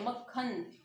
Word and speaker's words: मक्खन: मतलब जैसे ऐसा लगेगा हमें बोलते हुए जैसे हम यहाँ क नहीं बोल रहे, जैसे ख ही बोल रहे, मक्खन। ओके, ठीक है ना, मतलब जैसे ख ही बोला जा रहा है, उच्चारण में ऐसा लगेगा। जैसे हम क्या बोल रहे हैं, मक्खन जैसे।